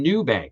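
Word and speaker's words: Nubank: Some examples include Oak North Bank, Revolute, and New Bank, and that's spelled Nub K. Uh, New Bank.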